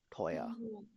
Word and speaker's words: teuer: Wie spricht man diese Kombination aus? इस combination को कैसे प्रोनाउंस किया जाता था? ओए. ओए. Sehr gut. Zum Beispiel इसको क्या Oi. पढ़ा जाता है? Neu. नॉय.